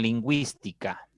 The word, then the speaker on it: lingüística: Excelente qué pasa con lingüística tiene tiene tiene mu bien si tiene entonces ahí vemos otra vez la u con diéresis está sonando no y la i